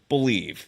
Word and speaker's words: BLEAV: Head to BetOnline today, and don't forget to use the promo code BELIEVE. It's spelled BLEAV.